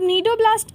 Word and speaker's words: cnidoblast: ठीक है, अब नीडोब्लास्ट का स्पेलिंग देखो, CNIDOBLAST, मतलब सी साइलेंट है यहाँ पर। निडेरिया में भी देखो सी साइलेंट है, तो सी देख के सिनेडेरिया नहीं कर देना।